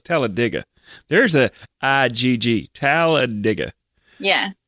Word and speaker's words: Talladega: way to say it it's not talladega like i don't know what eric church is singing about talladega no it's telediga there's a igg taladiga